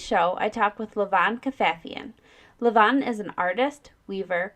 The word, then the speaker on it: Kafafian: Kafafian. Kafafian.